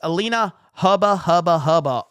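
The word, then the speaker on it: Alina Habba: Legalize adulthood says, you're mispronouncing Trump's lawyer's name. It's Alina Hubba, ultra mega maga baby. Let's go. Look, man, I'm just telling you right now, Alina Haba is a very talented individual, and I respect her, okay?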